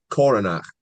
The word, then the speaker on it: Coronach: No, Coronach.